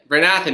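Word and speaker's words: Bryn Athyn: uh i'm i'm pr if i pronounce it wrong please forgive me brynn athen that's it bernathan not bryn mawr bernathan brynn athen um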